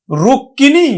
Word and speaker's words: রুক্মিণী: শিক্ষার্থী বন্ধু দেখো এখানে ক এর সাথে মফলা আছে। এইজন্য এই কটা দুইবার উচ্চারণ করতে হবে। তাহলে আমরা উচ্চারণ করব কিন্তু রুক। রুক আরেকটি ক আমরা উচ্চারণ করব রুক্কিনি আমরা আরেকবার উচ্চারণ করব